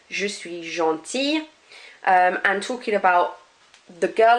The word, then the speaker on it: gentil: So fille rather than fille, famille rather than famille, and gentil rather than gentille. We are not pronouncing those L's outright. So that I-double-L-E is more of an E sound rather than an il.